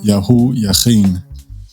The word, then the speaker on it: Yihoyakeen: Okay, so Yihoyakeen is the way that it's pronounced, and it means the Creator shall prepare the way.